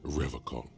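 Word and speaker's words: Revachol: He pronounces Revacon with a hard K, unlike other people.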